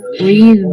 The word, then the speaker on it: read: I mean, the writing is exactly the same, but the pronunciation is different.